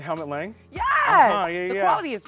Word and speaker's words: Helmut Lang: I just got these Hemulot Lang. I don't know how to pronounce. Oh, like Helmut Lang?